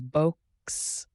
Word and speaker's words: box: But in sound, box is b oks. The x at the end is not one phoneme, it is two phonemes packed into one letter.